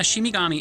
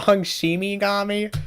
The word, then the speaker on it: Shinigami: In Japan, a Shimigami is the equivalent... Did you just pronounce it wrong? Shimigami?